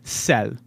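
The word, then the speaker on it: sel: than french salt and that's cell i love cell s-e-l is how you say salt in french so give me all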